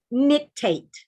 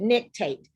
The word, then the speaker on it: nictate: a word and i'd like for you to pronounce the word the word is nictate say the word nick tape very good nictate now i'm going to show you what nictate